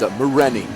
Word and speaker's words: Mahoney: Yeah, it's Mahoney is how they say it.